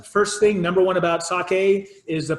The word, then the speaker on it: sake: even hanging out with Japanese people you say sake you're gonna look like you're a professional right